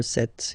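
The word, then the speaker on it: sept: So remember it's ending with X, but then we pronounce it S. 26, 27. Remember set, it was this P disappear.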